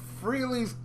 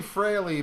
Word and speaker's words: Frehley: that uh we review freely frailey's comment i always say freely yeah what's wrong with you i don't know my favorite member and i can't pronounce his name correctly it's really frilly but as you listen